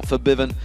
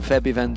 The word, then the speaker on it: Fiven: out for fiven who we have been told to pronounce it that way by the way if anyone's wondering why we've changed it from feiven to fiven and the same with hian where our Swedish is not quite on the par that we